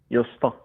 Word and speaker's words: Gösta: Gösta. How do you spell that?